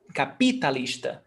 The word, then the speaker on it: capitalista: You said capitán, you didn't say capitán, and now you said capitalista, you didn't say capitalista. It's because the stressed syllable is not on P, so that's why I don't say capitalista. Capitalista. It's capitalista. The stressed syllable is on lis.